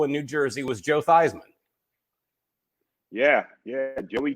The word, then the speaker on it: Theismann: His name really is Theismann, not Theismann. Okay. Okay. He went to Notre Dame, had a chance to win the Heisman Trophy. So he changed his name from Theismann to Theismann to rhyme with Heisman.